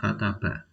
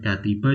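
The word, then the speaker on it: كتب: ta ba untuk tahu ini bacanya Seperti apa lihat di kamus kita akan nemukan di sana kataba Bukan katiba juga bukan katuba kalau anda sudah familiar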